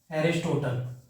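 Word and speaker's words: Aristotle: ठीक है, इंग्लिश में अरिस्टोटल बोला जाता है, मतलब अगर आप प्रोनाउंसिएट करो तो एरिस्टोटल।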